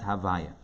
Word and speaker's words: Havaya: then Vav, then Hey, pronounced in Kabbalistic text as Havaya.